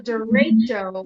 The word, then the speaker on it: derecho: But then you guys had violent storms, and we had called a derecho, which sort of rhymes with shit show.